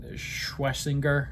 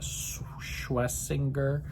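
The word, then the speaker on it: Schwesinger: And then you bring in the rookie, Schwessinger, I think is how you say that, Schwessinger, with an early draft pick.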